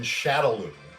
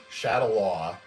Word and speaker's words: Shadaloo: criminal organization Shadaloo, Shadalaw, spelled Shadaloo, and I've heard it pronounced both ways. I probably heard Shadalaw more in just the American translation, so I do technically kind of want to go to that, but it's L-O-O, not L-O-W, so it's like, yeah.